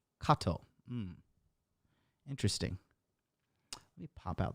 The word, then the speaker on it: Cato: Oh, English, it's fine to say Cato. Latin pronunciation is Cato.